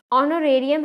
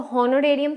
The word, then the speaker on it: honorarium: क्योंकि जो ऑनोरेरियम है ना, ये इसको हॉनोरेरियम थोड़ी बोलते हैं, जो एच से थोड़ी इसकी प्रोनाउंसिएशन स्टार्ट है।